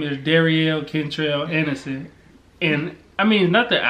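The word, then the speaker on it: Derryel: And, I mean, not that I don't mind my first name, but no one ever pronounces right. I go somewhere, it's either Daryl or Durrell or Darrell or anything but Darielle.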